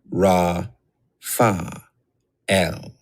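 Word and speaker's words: Raphael: Do this syllable by syllable. Fire. Mi, ka, el. Air. Ra, fa, el.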